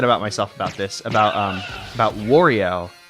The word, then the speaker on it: Wario: myself about this, about Wario. His name's Wario, like, you're supposed to, like, emphasize a wa, but I always say war, like the bad stuff. And it's like, that's not how you say it, but my pronunciations are so lazy.